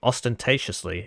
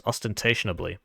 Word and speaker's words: ostentatiously: She was known for dressing ostentatiously in designer clothes. So there you go. I hope you learned something today. I thought it was ostentationably.